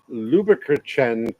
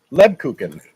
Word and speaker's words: Lebkuchen: with Trader Joe, I have some sugar glazed Luberkuchen cookies from Germany from Trader Joe's. I'm guarantee you're pronouncing that wrong. I guarantee. Try it. Lebkuchen.